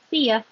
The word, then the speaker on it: see ya: You changes to, well, we spell it like that, but it really sounds like ya with an So if you say see ya, the stress is on see.